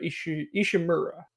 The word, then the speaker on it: Ishimura: Isaac Clarke goes to the Ishimura, like or Ishimura, yeah, that's how you say it.